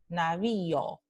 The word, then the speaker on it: navío: Dos vocales en sílabas diferentes, na, bi, o, ¿ok? Entonces, vi, o, y o pertenecen a sílabas diferentes. Y tenemos la vocal alta y en primera posición y luego la vocal abierta o en segunda posición.